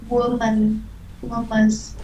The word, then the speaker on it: Women: Conference on women's rights. Cái này là em đọc là women, Rights. là Women. Women mới đúng. Women's. Hình như là women đó em, đó là âm in luôn á.